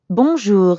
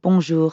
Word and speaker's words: bonjour: in english in fact the n isn't really pronounced at all instead practice saying o